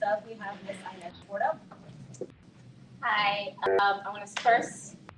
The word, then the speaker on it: Bordeaux: Bordeaux, it rhymes with Shoto, so if you can say Shoto, you can say Bordeaux.